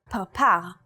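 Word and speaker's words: פרפר: In the word parpar, or butterfly, this letter is pronounced with a p sound.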